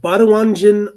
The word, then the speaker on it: Baduanjin: All right, Baduanjin offers a different approach. This widely and I'm going to spell it here, b a d u a n j i n, Baduanjin.